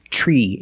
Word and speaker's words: tree: Another situation where T makes a ch sound is TR. When you have TR together in any situation, you can pronounce it ter, but usually we don't. We pronounce it ch plus the R sound, chur. Example, train, truck, tree, and travel.